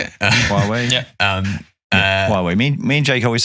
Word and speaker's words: Huawei: Huawei?